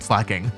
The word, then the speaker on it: Slaking: antagonize the comments, so I started calling it Slaking. But personally, I still think Slay-king is better; in my heart, it's going to be Slay-king.